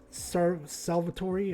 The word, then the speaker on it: Salvatori: Not in the bad corner, but in the corner pocket over here, and maybe Marty and Salvatore, that's how you say his name correctly, may be able to win this.